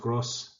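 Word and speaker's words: groß: a passion for languages gross or pronounced cross is actually German for large and so here large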